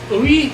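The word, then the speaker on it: Ooyy: on this one ooey and he's how you say his name it's o-o-y-y he is on itunes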